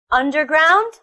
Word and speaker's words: underground: that's all for today we learned the stress position of forwards motorbike underground holiday family they're all three syllable word with the stress on the first syllable I hope you learned